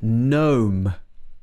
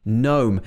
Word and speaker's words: gnome: the next one is gnome gnome so this has got the g at the beginning of the word so we don't say gnome we say gnome and a gnome is